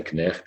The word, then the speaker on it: Knecht: What you'll notice is you pronounce every letter of Knecht.